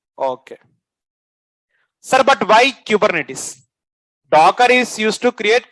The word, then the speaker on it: Kubernetes: How to pron this one? Kubernetes. Sure. Kubernetes. Sure. Is it Kubernetes or Kubernetes? Q. Okay. So then Okay. So what we going to call it exact name is Kubernetes. Someone will call this Kubernetes. Not our said like it's of from English accent. But if you are like here accent is exact pronunciation is Kubernetes.